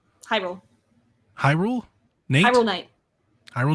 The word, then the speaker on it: Hyrule: J Rule? Hyrule.